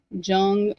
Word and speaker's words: Jung: Um, and I think you pronounce his name Jung J u n g or the j may be silent.